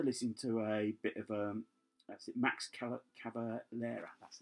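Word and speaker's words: Max Cavalera: I'm not averse to listening to a bit of Max Calavera, that's how you pronounce it.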